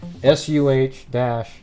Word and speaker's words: Saguache: This official release it actually tells you how to pronounce that. SUH-WATC.